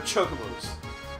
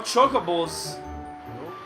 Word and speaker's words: Chocobo: They're not Chocobos, they're Chocobos. I know it's spelled C-H-O-C like chocolate. No, goddamn, it's Chocobo. Waka says so. So hold your Chocobos.